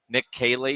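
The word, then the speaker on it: Caley: welcome Nick KY in is that how you say his name pledge Kaylee Nick Kaylee that is correct the new offensive coordinator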